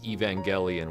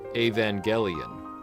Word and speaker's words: Evangelion: You may have noticed I've been pronouncing Evangelion with a hard E at the front, but I'm using a hard G in the middle despite the word angel being the central word of the title.